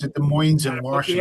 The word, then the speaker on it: Des Moines: of the city is Des Moines. It's not Des Moines, it's Des Moines. So you pronounce it Des Moines in Gotta put the S on Washington.